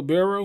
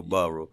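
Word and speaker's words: Burrow: about uh how you how you pronounce his last name Joe Barrow is that how you see it yeah you know like LSU the quarterback okay for LSU Joe borrow he played for uh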